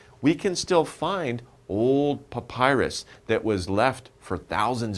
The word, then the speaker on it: papyrus: What is papyrus? Papyrus is kind of a type of paper that was very difficult to make. To pronounce this word, think of Popeye, you know, Popeye, the sailor man.